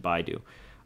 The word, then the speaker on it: Baidu: So a little bit more bearish on the Baidu, whatever, however you pronounce it. I pronounce it Baidu.